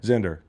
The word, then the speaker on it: Zinder: The crux of the campaign is that it rhymes with Tinder? Yes. Okay. Zinder.